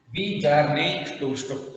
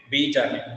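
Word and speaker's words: Bjarne Stroustrup: was invented by the person named called as V. Jarney Stoustrup. See, actually these are the names of the foreigners. So just we have to pronounce it. Okay. B. Jarney.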